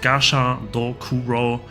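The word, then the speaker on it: Gashadokuro: Pronounced Gasha Dokuro, a giant skeleton yokai summoned by Kelly.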